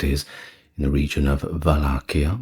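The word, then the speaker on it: Wallachia: that is in the region of Valakia which is I believe pronounced that way in the Romanian despite its spelling or starting with a W.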